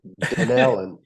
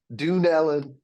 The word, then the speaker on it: Dunellen: just educated me on the proper way to pronounce that dellan dellan is that right yes dellan is that it yeah dellan I I've called it every other D dunan dunan Dunellen dellan that that makes more sense so thank you that's